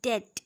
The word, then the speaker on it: debt: DEBT, डेट, डेट, यहाँ पे B silent है तो ये प्रोनाउंसिएशन होगा डेट।